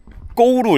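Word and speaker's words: 句: 그 고구려의 구자도 웃긴게 한자로 고구려 이렇게 을때 구자가 중국어로 쭈라고 읽는단 말이에요. 그러면은 까우쭈일이 이렇게 해야 되는데 이게 고구려 읽을 때만이 한자를 다른 음으로 해서 까우거울이 이렇게 읽는다고 하더라고요. 그래서이 한자는 고구려를 읽을 때만 고우로 읽어요. 나머지는 다 주위로 읽고.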